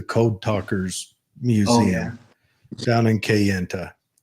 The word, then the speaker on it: Kayenta: went to the code talkers Museum down in Kayenta Kayenta right said it right and I like Burger